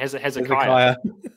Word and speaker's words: Hezekiah: Hezekiah, sorry.